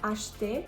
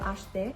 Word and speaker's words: acheter: The next H is combined with C, so this is going to be the sh sound, acheter. And notice that the E is not pronounced in the middle of acheter.